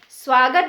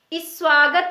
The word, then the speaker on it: स्वागत: स्याही नहीं पड़ते हैं स्वागत बोलते हैं इसे हम इस स्वागत नहीं बोलते हैं ऐसा ही एक शब्द